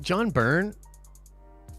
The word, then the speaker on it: John Byrne: Is it John Byrne?